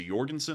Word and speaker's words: Jorgensen: I think it's a Jorgensen. I believe the J in Norse is pronounced as a Jorgensen.